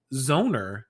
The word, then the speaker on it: Zoner: named Zoner. Rhymes with boner.